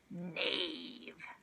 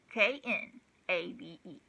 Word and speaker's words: knave: Knave. K-N-A-V-E. And remember, this K is silent.